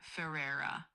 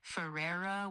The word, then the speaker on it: Ferreira: You'd say it like Barbie Ferreira. The Ferreira part is kind of like Ferreira with a rolled R.